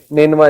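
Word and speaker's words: Nineveh: नेनवा इसका तलफुज़ है।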